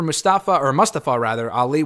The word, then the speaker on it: Mustafa Ali: I got to get used to saying his name like that. I know he started using that pronunciation, which I think is the accurate pronunciation during the Retribution stuff.